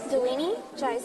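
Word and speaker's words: Dilini: all and would you say your name and spell it for me please delini and I'm from Sri Lanka so and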